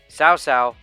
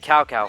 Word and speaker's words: Cao Cao: A lot of the names they couldn't even pronounce right, with the West voice acting like Cao Cao being pronounced Cao Cao, for example.